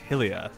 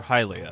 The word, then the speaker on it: Hylia: Hyrule Town mount crenell lake hylia or hi Lea you know just depends on how you say it Oh princess all right